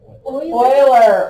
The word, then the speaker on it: Euler: Remember, the name is pronounced not like we want to read it. Euler.